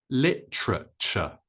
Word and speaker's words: literature: next one is litat literature it's quite difficult but the stress is on the first syllable with L and then we say TR and then CH L TR CH however in the USA